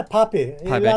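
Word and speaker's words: Pappé: of people like um is it Elan Pape? Is that how you pronounce the name? Yeah, Poppy.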